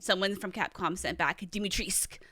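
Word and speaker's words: Dimitrescu: how you say it so dimitrisk yes dimitrisk according to capcom the u is silent so because i asked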